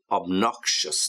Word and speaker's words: obnoxious: And then after patronizing, we have obnoxious. Now be careful here with the pronunciation. Obnoxious. Yeah, obnoxious. Obnoxious. You got a sh, yeah?